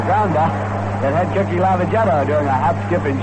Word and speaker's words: Lavagetto: Before the ball game, we were talking to Cookie about pronunciation, about the pronunciation of his name, saying that we call it Lavagetto, which he calls it, and then we hear from all sorts of people who say you ought to call it Lavagetto.